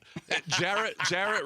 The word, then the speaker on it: Jarrett: Jarrett rhymes with parrot.